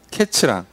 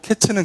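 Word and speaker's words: קֵץ: 과일에 대한 그 단어가 히브리어로 이 표현이 이제 카이츠예요, 카이츠. 자, 이게 이제 카이츠인데 여기 끝이라고 나와요. 끝. 뒤에 보면 끝이라고 나오는데 끝이 캐츠입니다. 카이츠랑 캐츠랑. 이게 카이츠는 여름과일이고 캐츠는 끝이에요. 그러니까 의미적으로도 맞고 발음도 비슷해요.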